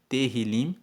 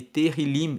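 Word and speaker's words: Tehilim: Salmos no texto original se chama terril se escreve t e h i l i m terim e terim em hebraico significa louvores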